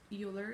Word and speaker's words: Euler: by none other than the Swiss mathematician Leonhard Euler. So this was proved. Leonhard Euler is not pronounced Euler, is pronounced Euler.